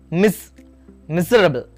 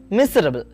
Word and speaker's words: miserable: For example, in the word miserable, the stress is on the first syllable, miserable, miserable.